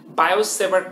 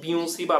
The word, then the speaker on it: Biot-Savart: টপিকে যাচ্ছি, সেটি কি বায়ো-স্যাভার্ট ল। কমনলি যদিও আমরা এটাকে বায়ো-স্যাভার্ট ল বলি, এটা অ্যাকচুয়ালি প্রোনাউন্সিয়েশনটা হচ্ছে কি বিওসি বা ল, ঠিক আছে?